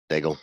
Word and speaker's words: Daigle: Daigle. Yes, sir. Okay. Rhymes with bagel.